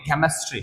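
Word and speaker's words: chemistry: जाए आपका ये है सी एच से च होता है लेकिन यहां पे क्या पढ़ते हैं सी से क पढ़ेंगे केमिस्ट्री क्या पढ़ेंगे इसको केमिस्ट्री यदि सी के बाद इ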